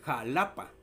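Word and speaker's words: Xalapa: Y luego vemos también el jalapa, que también se escribe con X.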